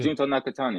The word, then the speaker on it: Nakatani: fight in Japan to fight how do you pronounce his name? NJ? No, to fight the Japanese tremendous undefeated Oh, yeah, champion. Junto Nakatani.